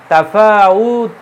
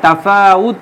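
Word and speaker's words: تَفَاوُتٍ: উচ্চারণ করি না হ্যাঁ তাফাউত বলি কিন্তু শব্দটা কি তাফাউতি হ্যাঁ শেষে একটা জের আছে কারণ ওই জায়গায় মিন আছে মিন হচ্ছে হরফে জার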